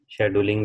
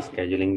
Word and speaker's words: scheduling: शेड्यूलिंग भी से कहा जाता है, स्केजुलिंग भी कहा जाता है, अलग अलग एक्सेंट जो है प्रोनाउंसिएशन अवेलेबल।